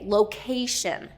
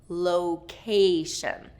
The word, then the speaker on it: location: Location. 2nd syllable stress on this one.